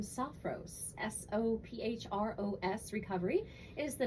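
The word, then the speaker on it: Sophros: I talking about but it's a beautiful name soft Rose s-o-p-h-r-o-s recovery is the name of this facility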